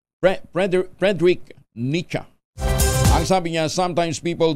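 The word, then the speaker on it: Friedrich Nietzsche: fredrick nach an yung Ayun Frederick nicha palang pronunciation niyan Frederick nicha ang sabi niya sometimes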